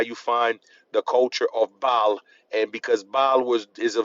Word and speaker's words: Baal: You see the word ball behind it as the last syllable, ball. Tribal. But that is Baal.